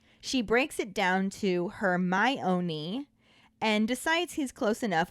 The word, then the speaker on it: Hermione: calling her hermione she breaks it down to her my own knee and decides he's close enough when he starts saying hermonanny after all the food has been eaten dumbledore